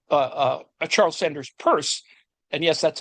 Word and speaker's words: Peirce: And um Namely, and this is uh uh a Charles Sanders Peirce, and yes, that's how it's pronounced.